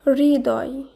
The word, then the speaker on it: হৃদয়: পরবর্তী শব্দ অনেকে একে হৃদয় বা হৃদয় বলে থাকে, এর শুদ্ধ উচ্চারণ হবে হৃদয়, হৃদয়।